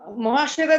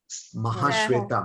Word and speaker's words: মহাশ্বেতা: মহাশ্বেতা দেবীর লেখা বই, মহাশ্বেতা দেবীর লেখা বই 1084। মহাশ্বেতা দেবী, মহাশ্বেতা, মহাশিবা নয়, মহাশ্বেতা দেবীর মহাশ্বেতা দেবী বলেছেন।